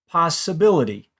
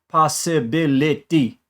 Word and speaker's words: possibility: Listen to this word, possibility. Not each syllable in that word is the same. I don't say possibility, but Spanish does.